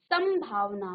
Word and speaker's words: संभावना: हो रहा है, अनुस्वार के रूप में उसका उच्चारण हो रहा है। ठीक है, ऐसे ही समधन भावना, संभावना, मौ का ही, मौ में ही अनुस्वार हुआ है, संभावना।